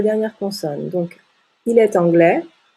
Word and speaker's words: anglais: consonne donc il est anglais le s est une lettre muette il est anglais en